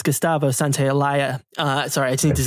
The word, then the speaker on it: Santaolalla: I realize I mispronounced. It's Gustavo Santaolalla.